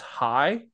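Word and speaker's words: hai: in Vietnam's is pronounced High kind of like a like high right like you're saying hi so like a lot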